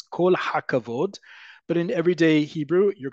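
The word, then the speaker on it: כל הכבוד: Kol hakavod, one word, kol hakavod. Think of it like kol hakavod. Kol hakavod sounds more like a native speaker.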